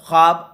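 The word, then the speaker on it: خواب: ख्वाब नहीं होता है, ख्वाब होता है असल में लफ्ज़, ठीक है। तो ऑप्शन नंबर सी बिल्कुल परफेक्ट होगा। वाव का जो है प्रोनाउंसिएशन, तलफ़ुज़, उच्चारण नहीं हो रहा है, ठीक है।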